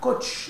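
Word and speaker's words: coth: تانش اكس، و سيكنت هايبربوليك و سيكش اكس، و كوتانجنت هايبربوليك ونطقها كوتش اكس، و كوسيكنت هايبربوليك ونطقها كوسيكش اكس ريسبكتيفلي.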